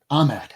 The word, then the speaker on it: Ahmed: But as a storyline, I can't pronounce it. Saladin Ahmed. He's also, what? Ahmed, thank you.